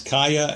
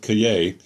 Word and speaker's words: Kaaya: more college football note I've heard to pronounce Kaaya and Cay Brad Kaaya I'm going to go with Cay Ka a a ya